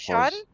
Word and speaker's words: Fourchon: I had to get some lessons from some Cajuns, but that one's Ah, Fourchon.